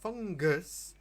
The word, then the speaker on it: fungus: Yes, fungus. It's a hard g.